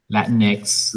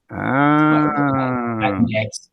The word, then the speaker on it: Latinx: Latinx. You just say Latin and pause X. Yeah. Yeah. It's not to reveal a gender, like Latino, Latina. Latinx is used.